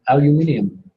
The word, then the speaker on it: aluminium: our ship in England in England it's not aluminum what is it in England and you now uranium yeah we can say it in four syllables they say then five Occam's razor again right same thing or aluminium and we can save 20% by slicing off that extra syllable so again we have